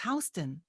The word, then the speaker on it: Houston: village is not pretty it's spelled the same but it's Houston and you wouldn't know